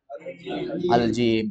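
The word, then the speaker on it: الجيم: Al-jim. Jangan bilang ja, tapi al-jim.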